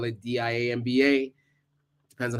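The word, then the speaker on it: diamba: some people spell that j-a-m-b-a some people spell it d-i-a-m-b-a depends on how it's always pronounced the same it's pronounced like Jamba but you can pronounce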